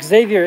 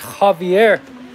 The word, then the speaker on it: Xavier: Is it Javier? Oh, his name's not Xavier. It's Javier. It's spelled with an X.